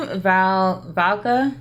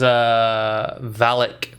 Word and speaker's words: Valak: Valka? It was Valak.